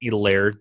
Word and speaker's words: Hilaire: one uh clyde edwards hilaire all right i guess the h is silent elaire the eclair that we like to call him he's a